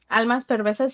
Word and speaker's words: Almas Perversas: How do you say that, Lucy? Almas Perversas? Yes. And actually, my mama's name is Alma. So Almas? Souls? So it's number 7. Look, cover price is adding in now. Oh, nice. Thank you. It's number 77. And even though when you look up that series of Almas Perversas, how you say it? Almas Perversas. You're saying it right.